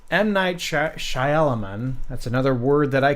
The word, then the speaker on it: Shyamalan: in 2000 it was M night Shyamalan is how you say it shush I'll hear everyone say Shyamalan shush that's wrong I've heard a lot of people say Millan it's not even spelled shaman Shaolin on